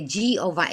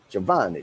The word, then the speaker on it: Giovanni: it that's right yeah these americans say giova is giovanni yeah yeah i i literally got lectured for like five minutes of like giovanni giovanni okay okay okay okay so